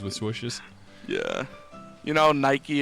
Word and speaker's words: Nike: swishes yeah you know Nike is the uh Greek word for victory it's pronounced Nikki yeah the the she's